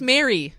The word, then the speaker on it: Mari: say Mari I just I just pronounce my name incorrectly on purpose yeah because it's Mary it's Mary guys yeah whatever Mari Mary